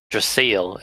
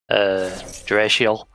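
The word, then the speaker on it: Draciel: Drigger is supposed to be pronounced Driger because it rhymes with tiger, and Dracile is supposed to be pronounced Dracial, but they just changed it to Dracile.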